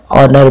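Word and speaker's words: honour: जैसे नेट में आपको जी साइलेंट है, साइकोलॉजी में पी, और ऑनर में आपको एच, राइट में डब्ल्यू।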